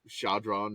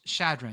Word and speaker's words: Chadron: Idaho State and whatever Chadron children well I'm saying it wrong uh I I so I think I found it I think it's it's uh it's Chadron Chadron okay close state of